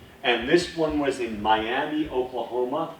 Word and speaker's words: Miami: And this one was in Miami, Oklahoma, but it's pronounced Miami.